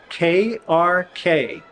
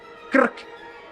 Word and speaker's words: krk: For example, KRK is a word, and it's pronounced krk, krk, like Captain Kirk in Star Trek.